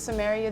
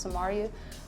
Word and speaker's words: Samaria: Well, my name's in the Bible, so the Bible pronunciation is Samaria, the city of Samaria. So I think most people think when they see my name, that's how it's pronounced, but it's Samaria.